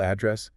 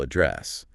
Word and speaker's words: address: If you stress the first syllable address, it's a location, a physical spot. But if you stress the second syllable address, it's a verb, meaning to speak to someone or to deal with a problem.